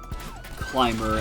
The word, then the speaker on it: climber: Still funny how climber and timber are spelled the same. I mean, minus the first letters, but you know. Very different feel in the words, thanks to that B.